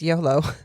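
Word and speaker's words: Iolo: Oh, I looked it up and it is just pronounced YOLO.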